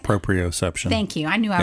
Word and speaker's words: proprioception: pro retive system am I saying it right proprioception thank you I knew I was going to